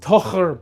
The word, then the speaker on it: Tocher: It's actually pronounced Tocher, but Tocher is a little bit easier for people to say.